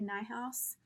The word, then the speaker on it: Niehaus: and by the way night house is not spelled like it sounds so if you want